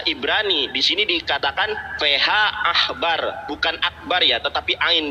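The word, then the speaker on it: עכבר: Ini bacaannya bukan akbar ya teman-teman ya. Ini ain, dibacanya feha akbar, ahbar, dibacanya ahbar bukan akbar. Ingat, ini bahasa Ibrani dibacanya feha ahbar bukan akbar. Karena kalau dibaca akbar harus ada dages di sini.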